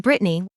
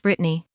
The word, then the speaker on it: Bretagne: And Brittany, while the name looks like it's French, it's spelled Bretagne. It is actually pronounced Brittany.